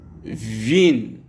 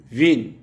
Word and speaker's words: Wien: W se prononce comme en français le V de ville, ville. Comme par exemple, nous avons Wien, Wien.